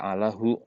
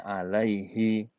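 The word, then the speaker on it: عليه: Tapi kan nggak bisa baca alahu karena habis harful jar pasti isimnya kasroh. Maka bacanya alaihi.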